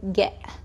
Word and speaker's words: get: كلمة get تنتهي ب T وهيدي ال T فيك تلفظها كهمزة. اوكي so instead of saying get you can say get.